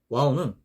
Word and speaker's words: و: 요 와우의 음가는 이제 W 또는 U 이런 식으로 발음 표기가 됩니다.